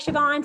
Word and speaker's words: Siobhan: And if you look at her name, it does not look like it's spelled like that, like Siobhan.